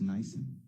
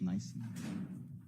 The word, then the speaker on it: NIBIN: I'll put this in writing just for ease, but on it's pronounced Nyson. The firearms Nyson.